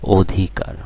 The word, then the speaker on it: অধিকার: আরেকটা উদাহরণ দিচ্ছি অধিকার এখানে দেখো প্রথমে শব্দের প্রথমে অ রয়েছে এবং অ এর পরে রসইকার রয়েছে তাহলে কি হবে এই অ এর উচ্চারণ অ থাকবে না অকার হয়ে যাবে যেমন এই উচ্চারণটা আমি লিখে দিয়েছি অধিকার ঠিক আছে দুই নাম্বার